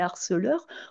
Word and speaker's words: harceleur: enfin cette fois-ci phonétique, c'est que le verbe harceler ainsi que le nom harcèlement et l'autre nom, les noms, ah j'ai oublié le S à nom, je vais le rajouter, hein, ainsi que les noms harcèlement et harceleur ont un H qu'on appelle un H aspiré.